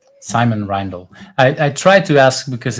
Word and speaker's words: Simon Reindl: Is that how I should pronounce your name? Yes, Simon Reindl. Simon Reindl.